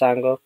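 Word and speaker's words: Un-Go: spelled u n g o uh but it's pronounced as as ango um and we already did a stream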